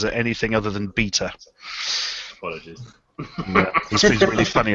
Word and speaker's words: B3ta: it anything other than beta. Apologies. Yeah, he's really funny about that. Well, that's what you get for spelling it with a bloody 3. I know, it's rhymes with Peter.